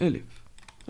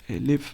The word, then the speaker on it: elif: एल्सिफ को एलिफ भी बोलते हैं, मतलब ये एक second, sorry, I just take out द पेन। इसको एलिफ भी बोलते हैं। ओके, एलिफ की स्पेलिंग ELIF, एलिफ।